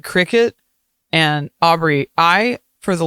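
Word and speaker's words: Cricut: No, it's not a cry cut. It's not. It's a cricket.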